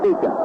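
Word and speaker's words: Beauchamp: He spells it B-E-A-U-C-H-A-M-T, and he pronounces it Beecham.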